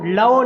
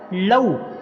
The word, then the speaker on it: لو: کرنا، انفسہم لو کانو، لو نہیں اس کو پڑھنا، لو مجہول ہو جائے گا، صحیح تلفظ کیا ہے لو، کانو کاف کے اوپر